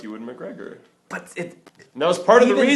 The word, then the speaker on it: Ewan McGregor: you see Ian McGregor, or not Ian McGregor. Ewan McGregor? Ewan McGregor? Whatever. Isn't that his name? Yeah, Ewan McGregor. That is it.